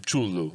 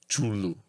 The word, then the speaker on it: Cthulhu: You're not supposed to be able to pronounce Cthulhu because its actual pronunciations a human mouth can't make. It drives a man to madness. Yeah, it's like I've been told that the actual pronunciation for Cthulhu is Chulu or something near that.